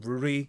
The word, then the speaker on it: Ruri: Her name is probably Luli, but it's pronounced Ruri because of Japanese.